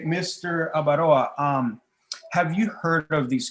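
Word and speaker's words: Abaroa: So how do you say that? Avaroa? Yes. Avaroa.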